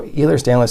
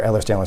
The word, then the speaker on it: Ehlers-Danlos: So Ehlers-Danlos syndrome, or Ehlers-Danlos syndrome, is kind of pronounced both ways, is a condition where